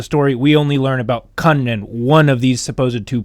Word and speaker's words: Kanren: The name Kanren, today we would pronounce it Kanren. However, if you look in the olden times, the way they wrote it with the hiragana to help you figure out how to pronounce it, they would have said Ku-wan-ren, Kwanren. Because apparently they did that in the old days.